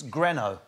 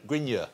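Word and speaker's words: Grineau: it's easy to copy it's greno but it's spelled g-r-i-n-e-a-u so grignard that's how i was being brought on stage yeah um so i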